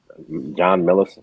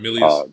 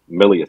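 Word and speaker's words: Milius: I think it was a Howard Sackler and I think John Millison. I hope I'm pronouncing his name. John Millius. They wrote Millius.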